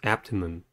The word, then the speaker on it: abdomen: The next word is abdomen. Abdomen has three syllables and the stress is at the first one.